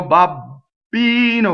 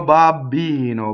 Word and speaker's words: babbino: the time o mio babbino with a huge double beef no no no no right o mio babbino Bob be no BB but nice right not